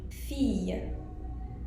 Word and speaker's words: fille: So, double L will be pronounced as y, like fille. Fille could either mean girl or daughter.